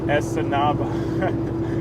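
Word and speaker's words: Escanaba: oh no problem upper peninsula michigan uh okay essenaba michigan is in the upper peninsula all right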